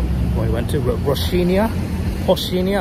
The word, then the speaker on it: Rocinha: Rocinha, I think it's pronounced like Rocinha, but it's R-O-C-H-I-N-H-A.